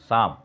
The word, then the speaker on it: psalm: The singer was not singing a song, PSALM, भजन का English होता है PSALM, जिसको हम प्रोनाउंसिएट करते हैं शाम, शाम लिखकर, शाम नहीं, शाम, स्व का शाम।